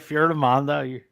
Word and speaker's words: Fiordimondo: Did I say it right? Or close? Close enough. You say it for me then. You're right, Fiordimondo. You're okay. much on point. I missed the fjord. I said Fiordimondo.